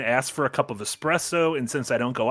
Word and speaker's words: espresso: in any of these espresso and once you know that like once you internalize in your head that it is an espresso all you will hear is other people pronouncing it with an X and being very mad